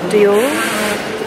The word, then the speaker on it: Dior: Anyway, I was reading the, because Dior rhymes with or, which is a French word for gold.